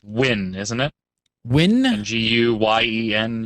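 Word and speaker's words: Nguyen: Is it Nayuen? Nayuen? I think I'm pronouncing the last name correct. John asks, it says, that's what usually type pronounced win, isn't it? Win? G-U-Y-E-N, usually pronounced win.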